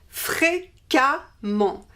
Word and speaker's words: fréquemment: the masculine form and we replace the ent by e-double-m-ent, and we pronounce this amant, amant. So we have fréquemment.